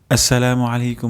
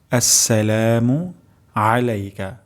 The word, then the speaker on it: আসসালামু আলাইকা: আসসালামু আসসালামু আলাইকা। আ উচ্চারণ হবে গলার মাঝখান থেকে যদি আমরা এখানে উচ্চারণ